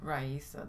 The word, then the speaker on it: Raisa: Well, how do you pronounce her name? Raisa.